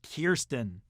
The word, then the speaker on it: Kirsten: gun and later dope hinder becomes fixated on kirsten dunst from interview with the vampire yes it's pronounced kirsten you know who else was in an interview